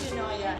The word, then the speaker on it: Eunoia: Can you tell us something about Eunoia Coffee? First, how to pronounce it.